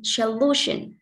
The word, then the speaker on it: solution: Tiếp theo chúng ta có từ solution. Trọng âm rơi vào lu, vì solution trọng âm đứng trước nó.